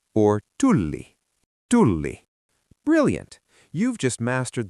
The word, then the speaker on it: tulli: Is it tuli or tulli? Tulli. Brilliant. You've just mastered the most difficult part of Finnish pronunciation.